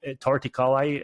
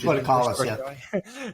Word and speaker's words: torticollis: Also, like with plagiocephaly, flathead syndrome, tongue ties, and torticolli. Is that how you say it? Torticollis, Torticollis, and it's very common, even reflux nowadays.